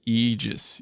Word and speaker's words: Aegis: The more correct for something like Aegis is Aegis. Aegis. Yeah, I know Aegis. Aegis. I just can't bring myself to not pronounce the A.